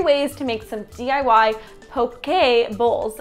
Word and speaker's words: poke: to make some DIY poke a bowls originally I was calling them pokey bowls but I'll put the proper pronunciation here so you guys